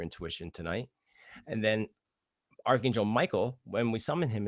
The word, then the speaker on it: Michael: tonight and then Archangel Michael when we summon him is actually pronounced Mikael he comes from the